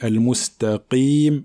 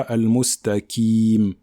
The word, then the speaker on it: المستقيم: Donc même si la lettre qaf porte une kasra, il faut quand même qu'elle soit emphatique, d'accord? Il faut quand même qu'elle soit emphatique. Donc on dit al-mustaqim et pas al-mustaqim.